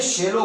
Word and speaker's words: Shiloh: सुनते आए हैं, लेकिन ये लफ्ज शिलवा नहीं है, ये लफ्ज शेलो है। इंग्लिश में जी पढ़ो, इंग्लिश में इसके लिए ये लफ्ज आया है शेलो। हम उर्दू में से इसकी प्रोनाउंसिएशन गलत करते हैं, इसका तलफ्फुज़ गलत अदा करते हैं।